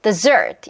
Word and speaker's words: dessert: 자, 그러면 da라 요 리듬에 맞추면 desert 이거고 da 요 리듬에 맞추면 dessert 이렇게 하면 여러분 발음이 조금 틀어져도요.